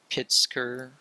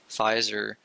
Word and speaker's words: Pfizer: I read recently that I believe it's pronounced Pitzker or Pfizer, actually, sorry. Pfizer, the medical company, has